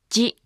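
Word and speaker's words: ヂ: Remember, it's not pronounced di. Actually, chi with a dakuten is pronounced as ji.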